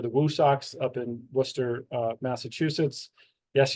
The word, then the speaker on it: Worcester: Woo Sox up in Worcester, Massachusetts. Yes, you say it Worcester if you're from New England. Worcester is how it's spelled.